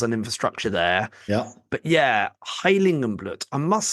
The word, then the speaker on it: Heiligenblut: You're going to tell me all about Heiligenblut. Yeah, I think, Heiligenblut or Heiligenblut. I think you pronounced it pretty spot on there.